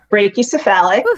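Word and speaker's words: brachycephalic: to say this i think it's brachy brachiocephalic brachiocephalic there we go say that five times fast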